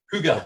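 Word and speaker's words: Hygge: Is it the little book of Hig or little book of Higgy? How do you say it? Huga. Hig. Huga. There you go. I was completely wrong.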